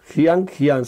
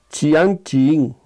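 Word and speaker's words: Jianjing: Hoy tenemos como punto invitado, Jian Jian se escribe. Hay muchos que pronuncian Chian Chin, Chian Chin, punto 21, vesícula biliar.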